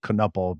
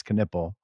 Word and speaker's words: Knueppel: a deceiving name because it looks like it should be Kiple, but it's Canipple.